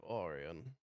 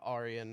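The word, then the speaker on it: Areon: be robots that worship Oran that's Arian that's a r e o n so sorry spell that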